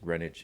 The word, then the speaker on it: Greenwich: I think the witch here obviously is making light of the name, which looks like Greenwich, although I guess is always pronounced Greenwich and goes back to England, where the name is originally from.